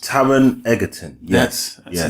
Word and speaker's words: Taron Egerton: And the new guy, young guy, I should say, is Taron Egerton, I believe it's pronounced. Taron Egerton.